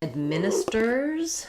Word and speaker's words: administer: So, um, sometimes people just shorten to admin, which sounds like admin, which changes the syllable stress, but in administers, we stress on the min syllable.